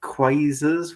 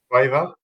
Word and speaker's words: Quasar: And then Gary Lineker brought out Quasars, was it? He had a special edition pair of Quasars, I think. Is that how you say it? Quaver?